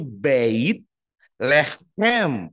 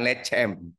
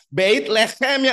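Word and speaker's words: בית לחם: biasa kata bet lehem dalam bahasa ibraninya itu bait leem pengucapannyait Le ada seraknya seperti drama Korea gitu loh ya huten Moren Nah itu seperti dengkur leem bukan lecem apalagi lecet enggak boleh ya bait lehem yang artinya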